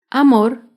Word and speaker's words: amor: es la palabra amor amor se acentúa en la última sílaba pero no lleva tilde porque no terminan en vocal ni en las consonantes n o s amor otro ejemplo de una